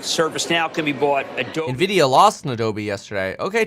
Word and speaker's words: Nvidia: it looks like it could go the way of of Nivea no Nivea Nvidia no come on let's get